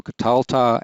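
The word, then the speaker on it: קָטַלְתָּ: the second feminine plural note that for several of these the accent recedes back a syllable so here we have catalta and notice the accent here so katalta and then catalti and then we see it also for the first column plural katalnu for all the rest of them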